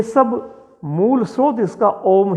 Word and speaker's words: ओम: उसमें ओ 1, उ 2 और म 3, यानी कि म का स्वर ज्यादा चलना चाहिए।